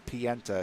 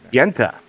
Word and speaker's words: Pienta: It's Pienta is how you pronounce the last name. Pienta.